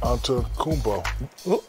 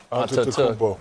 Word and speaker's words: Antetokounmpo: Well, Giannis Antetokounmpo. Is that correct? You forgot a syllable right in the middle. Antetokounmpo.